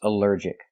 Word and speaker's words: allergic: Allergic is 3 syllables. Allergic. The stress is on the second syllable. Allergic. Allergic. Here the ALL is not pronounced all, but pronounced like in cup and up, because it's not stressed.